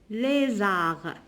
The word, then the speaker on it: lézard: Elle a peur du lézard. Ici, je ne prononce pas la lettre D.